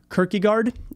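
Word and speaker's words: Kierkegaard: his name is Soren I'm going to try to pronounce this but I'm gonna screw it up quirky guard I think is how you say it uh he was around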